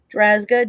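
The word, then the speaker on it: Drazga: That's a that's a tough one to pronounce. So, let me show it to you. Whoa. Drazzga, D R A Z G.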